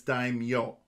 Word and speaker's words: daimyo: Yes, I'm fairly certain, though, that you got this one wrong, because that's not daimyo, that's daimyo. Ah. There's a Y in there.